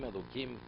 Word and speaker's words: Elokim: Hashem Elokim. Hashem is what? His master, Yud Kei Vav Kei. So here we have the pronunciation is Elokim, which is Midas Adin, but the spelling is Midas Arachmim.